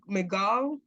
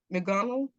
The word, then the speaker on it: McGonagall: McGall. McGonagall.